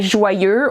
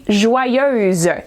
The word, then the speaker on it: joyeuse: A lot of people make this mistake and they say joyeux or they write down joyeux. It's actually joyeuse. It's feminine. That is the correct way to say it and to write it, okay?